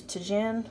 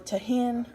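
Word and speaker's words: Tajín: And normally I would use Tajin or Tahin, or however you would say it. It's spelled T-A-J-I-N.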